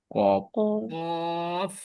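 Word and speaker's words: قاف: জিনিস বলি নাই আপনাদের কফে কিন্তু শেষে ফা উচ্চারণ হয় অর্থাৎ এফ মানে শেষে আপনার দুই টুটির মাঝখান দিয়ে আবার একটু বাতাস বের হয়ে যাবে কফ বুঝছেন কফ কফ আর এটা কাফ এটা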